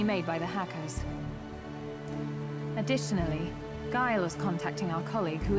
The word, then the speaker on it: Guile: It's pronounced Guile.